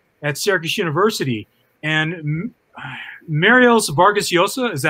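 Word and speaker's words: Vargas Llosa: for video services at syracuse university and marielle's vargas yosa is that how you pronounce his name yeah he came to seo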